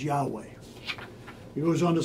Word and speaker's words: Yahweh: 586 BC before Christ this name was regularly pronounced with its proper vowels as Yahweh he was on to